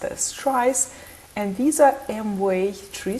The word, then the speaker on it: tries: that would be quite confusing so they are pronounced as trice and these are my tree structures which actually